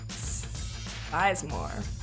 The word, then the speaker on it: Sizemore: Brady Sizemore. It's pronounced circumcised, but Sizemore works too.